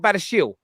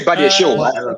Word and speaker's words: Badiashile: Isn't it not Badashile? I'll say Badiashile. Bro. Say In Badiashile. the sake of the chat, just call it Badiashile. Yeah, for the chant, it's got to rhyme with Lamborghini.